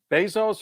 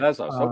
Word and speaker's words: Bezos: Is it Bezos or how are you pronouncing his name? Doesn't matter. It doesn't matter. I think I just say Jeff Bezos, but Bezos.